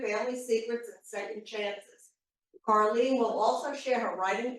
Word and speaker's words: Carlyn: of you may not because it's spelled differently than it sounds so I want you to remember my name so this is how you will remember it caring okay I'm really pleased